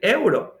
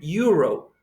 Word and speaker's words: euro: O la moneda de Europa, el euro, en inglés es euro. Ah, euro, está sonando como con Y.